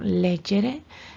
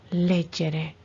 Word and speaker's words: leggere: Pero en estas, por ejemplo, leggere, son acentos prosódicos, que la fuerza esta la tiene en la sílaba le, leggere.